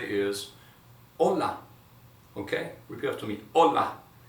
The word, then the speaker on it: hola: a level in Spanish, just avoid pronouncing the H and just go for hola.